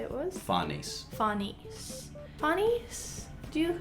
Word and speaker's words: Farnese: It's meant to be Italian, it's like Farnese. That's kind of how it's spelled. Like, if I was to sound it out, I would go Fanesse.